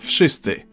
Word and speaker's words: wszyscy: Unlike in English, where letters have dreams and can be whatever the hell they want, in Polish you simply pronounce each sound one after another and you get the word.